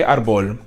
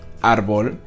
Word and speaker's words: árbol: So árbol does end with an L, but we don't say árbol. We actually put the accent up here because this is where the stress is, árbol.